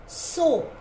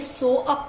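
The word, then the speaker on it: soap: सोप. हमने यहाँ पे ए को साइलेंट रखना है. इसको हमने सो अप नहीं बोलना. नो, ए is silent. The word is सोप.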